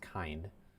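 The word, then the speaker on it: Kinde: Sorry, I think it's pronounced Kind. Silent E there, and heading over towards Port Hope.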